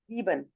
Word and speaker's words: sieben: Jacques next one इज जीबन। Jacques जीबन, जीवन अगेन ये एस से स्टार्ट हो रहा है, तो आप इसको जी की वॉइस जीवन देंगे, जीबन। सेवन जीवन को जीबन कहा जाता है।